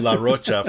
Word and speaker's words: Rocha: I think it's spelled La Rocha for Zach De La Rocha. Yeah, it's like CH.